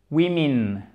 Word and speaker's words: women: Ici, on a deux voyelles et c'est pour ça que je trouve vraiment intéressant et passionnant la prononciation en anglais. Parce que regardez, un mot encore une fois très simple, deux voyelles bien différentes. Le O et le A, ça n'a rien à voir.